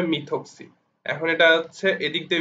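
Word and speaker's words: methoxy: তো এটা উচ্চারণ অবশ্যই, যেহেতু CH3 এর সাথে আছে, সুতরাং এটা হচ্ছে মিথক্সি, এটা উচ্চারণটা হবে মিথক্সি।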